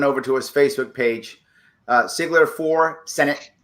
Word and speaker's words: Sigler: to his Facebook page, Sigler for Senate. That's with an S. Sometimes I pronounce it like a Z because my mom was German, so I go Ziegler because I just sorry.